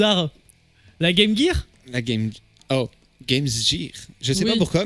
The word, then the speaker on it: Game Gear: La Game Gear. Je sais Oui. pas pourquoi, mais c'est le seul prononciation de Gear qui est autorisé pour la Game Gear.